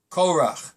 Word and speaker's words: Korach: without any new kudos we know that we pronounce it Cora but there's a way to pronounce it another